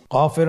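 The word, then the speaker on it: ق: আবার বলুন কফ কফের মাখরাজ স্ক্রিনে লক্ষ্য করুন এখানে আমরা মাখরাজের বা উচ্চারণের স্থান দেখতে পাচ্ছি কফের মাখরাজ হলো জিহ্বার গোড়া তার বরাবর উপরে তালুর সঙ্গে লাগিয়ে উচ্চারিত হয় জিহ্বার গোড়া তার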